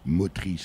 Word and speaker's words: Motris: Mais avant cela, je vous ai aussi présenté comme locomotrice de l'association Motrice.